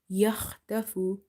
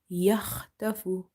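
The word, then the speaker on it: يخطف: Kha is from your halkiya letters, the throat letters, and it's from the top of the throat. Okay, with a certain irritation you pronounce it, and it's heavy. Plus ta is also from the musta'aliya letters, the heavy letters. So try making both of them heavy.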